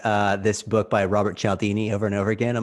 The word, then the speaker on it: Cialdini: i'm just rehashing uh this book by robert cialdini over and over again on my my channel